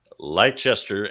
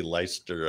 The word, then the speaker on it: Leicester: for 70s urban horror fans and you say lychester and bernard just as i'd hoped lovely oh i guess we're doing it wrong oh well yeah it's actually leicester i think and bernard andy keeps us honest